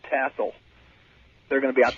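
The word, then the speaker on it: TSOL: Yes, it's T-S-O-L. Tassel. No, well, I think you just said it correctly.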